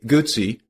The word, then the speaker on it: Guzzi: Today, Gucci, pronounce it like pizza, is best known for their trademark 90° V twin engine and shaft drive.